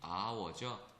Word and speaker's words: hour: 이때 여러분들 기본적으로 발음이 hour죠. 그죠? 모음으로 발음 나니까 자음의 유무를 떠나서 그죠? 얘는 an hour 이렇게 쓰는 거고요.